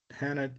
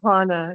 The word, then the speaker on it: Hana: It's Hana. Yeah, it's Hana with a soft A.